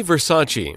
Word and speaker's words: Versace: 片中听到的发音 Gianni Versace.